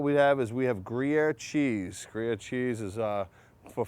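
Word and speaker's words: Gruyère: How do you pronounce it? Gruyere. No, it's Gruyere. Gruyere. All right, so very simple, very easy.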